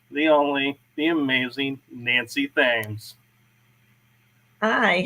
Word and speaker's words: Thames: I pronounce my last name Thames, like the Thames River in England.